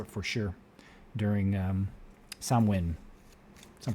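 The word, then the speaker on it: Samhain: good time for it for sure during um samwin some pronounce it samain but it's swin that's how it's pronounced it is um all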